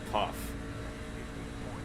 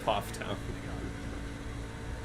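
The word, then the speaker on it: Pfafftown: place is called okay it's spelled p-f-a-f-f town any idea what that's for puff poff yeah it's poff town because the guy's name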